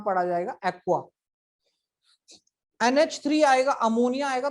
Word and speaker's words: ammine: NH3 आएगा, अमोनिया आएगा, तो उसको लिखा जाएगा अमीन।